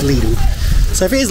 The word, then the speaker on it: Lidl: I think it's pronounced Lidl, but you guys say Lidl. Lidl. And that's the way we generally do say it in the UK, but I am certain it's Lidl.